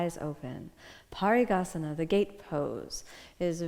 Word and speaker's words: Parighasana: of the inner Journey let's start off with the Sanskrit pronunciation here we go repeat after me parigasana party gahasana one more time good